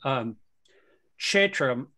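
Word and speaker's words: क्षेत्र: It's actually Kshetra. Kshetra, it's kind of like slightly pronounced. The K is slightly pronounced, but it S with a dot under is SH. So it's Kshetra, Kshetra.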